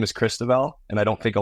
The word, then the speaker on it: Cristoval: get older um and my real name is Christel and I don't think a lot of the kids could pronounce that on the ice so as I